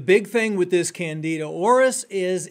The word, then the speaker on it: auris: The big thing with this Candida auris is it's resistant to many different types of medications.